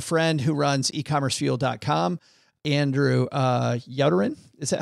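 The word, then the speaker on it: Youderian: Andrew Yoderin, is that how you pronounce it? Yeah. Yoderin.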